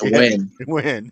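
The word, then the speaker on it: Nguyen: at least Brandon fgalantai n g u y n and is win win yeah ain't no W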